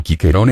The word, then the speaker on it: Cicero: a propósito del jere el nombre de cicerón cicerón en pronunciado quiquerón en latín clásico tuvo suertes diversas en